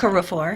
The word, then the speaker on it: Okorafor: Is that how you pronounce Yes, her last? Okorafor. Okorafor. I left out a syllable, and so she is